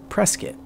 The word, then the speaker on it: Prescott: to be prescott arizona that's actually spelled prescott which is something that threw me off when i first moved to arizona about 15 years ago but they pronounce it prescott so here you'll see